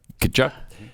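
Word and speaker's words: Tkachuk: uh Brady is Brady Kachchuck. Brady Kachchuck. Kachchuck. Uh so you don't pronounce the T? No. Brady Kachchuck went back to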